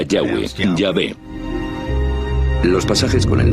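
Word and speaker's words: Yahweh: más íntimo y personal que normalmente se pronuncia yahwe yah los pasajes con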